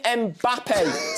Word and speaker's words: Mbappé: Are you Are you doing precisely how it's supposed supposed to be pronounced? Yeah, come on. Let's do it properly. Kylian Mbappé.